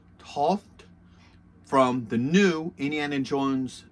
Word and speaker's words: Toht: Today I'm going to be doing my review of Major Arnold, and I believe that the last name is pronounced Toht, from the new Indiana Jones toy line.